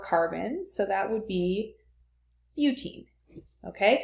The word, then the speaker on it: butene: so that would be butene. Okay, because 4 goes with, it looks like but when I write it here, but usually we say but when we're pronouncing the compound.